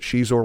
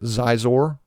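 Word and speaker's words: Xizor: If you want to pronounce it Shizor like me, fine. If you want to pronounce it Zizor like the others, cool.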